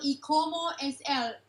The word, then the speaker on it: Y Como Es Él: My Wife's Lover in Mexican version is titled Y Como Es Él. Did I pronounce that correct?